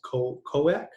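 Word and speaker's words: Khoiak: egyptian month of uh i believe it's pronounced ko koak that's k-h-o-i-a-k um that month and the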